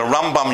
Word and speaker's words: Rambam: Rambam and the Ramban, because the Rambam, you put the emphasis on the first syllable, and when we say Ramban, we put it, as apart from changing M to N at the end, we put it on the second syllable.